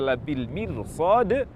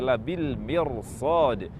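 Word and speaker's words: لَبِالْمِرْصَادِ: Karena itu, karena huruf sad merupakan huruf isti'la berharakat bukan kasrah, yakni berharakat fathah, maka huruf ra tersebut dibaca tafkhim. Labil mirsad, bukan dibaca labil mirsad, namun dibaca labil mirsad.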